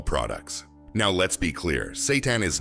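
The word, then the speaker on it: seitan: Satan, pronounced Satan, is made from wheat gluten.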